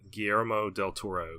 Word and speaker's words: Guillermo del Toro: out for me saying Guillermo del Toro because he says the G is silent so I should be